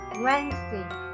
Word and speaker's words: Wednesday: Wrong pronunciation will lead to wrong spellings. For example, we write W-E-D-N-E-S-D-A-Y. It's Wednesday.